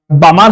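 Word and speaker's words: Balmer: ফোটসের এরেকে বলা হয় বামার series not বালমার বামার এলটা silent B এল এমই আর বামার যদি করতে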